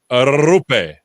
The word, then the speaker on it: Roope: So I've been saying it wrong. It's Rupe. Roll that R's.